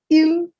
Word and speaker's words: il: Il, elle. These two words, they're pronounced as il / elle, meaning he or she.